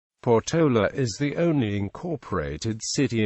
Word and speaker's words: Portola: explored the surrounding area the place name is generally mispronounced with stress on the middle syllable thus ignoring the accent mark in its name sex surname Porta is